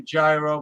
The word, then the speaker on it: gyro: Yeah, I mean, I call it a gyro because there's a G. There's a G there. It's like Yeah. I say it like it's spelled, and that's what I do.